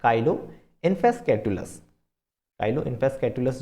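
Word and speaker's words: Chilo: कुछ लोग इसे चीलो इन्फेस्कैटुलस भी कहते हैं, तो वो अपना अपना प्रोनाउंसिएशन है। वैसे काइलो ज़्यादा बेटर लगता है सुनने में।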